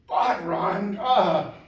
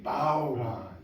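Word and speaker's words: bodhrán: And so please, if you see the word B-O-D-H-R-A-N, never say, Bodron, that makes people like us shiver. And instead, always say, bowron.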